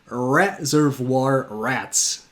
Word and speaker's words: Reservoir Rats: For a Belgian Dutch-speaking person, an alliteration in English with a lot of R's in it is really hard to pronounce because we tend to go to a like more W sound when it comes to R's. So it's Reservoir Rats. See, if I pay attention, I can pronounce.